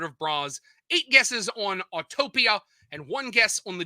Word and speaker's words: Autopia: the wizard of bras autotopia or the disney gallery which are autopia autopia autopia that's how you say it folks is it shrek's castle